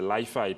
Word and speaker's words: Li-Fi: En français, c'est Li-Fi, en anglais, c'est Li-Fi. Personnellement, je préfère la prononciation française quand la prononciation francophone, c'est plus simple.